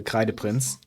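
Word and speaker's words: Kreideprinz: but he's also the K the prince. And yes, that's actually how you pronounce that word because it's a German word and I'm German.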